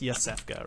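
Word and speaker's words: Iosefka: felt really bad yes it's probably pronounced yosefka right i-o-s-e-f-k-a yeah so like it's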